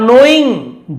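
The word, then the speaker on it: knowing: तो उसने कहा ठीक है 1000 तो हथौड़े चलाने का, बाकी 99,000 क्या है, एंड 99,000 और 99,000 फॉर नोइंग जानने के लिए, के साइलेंट है, वेयर कहां, एंड हाउ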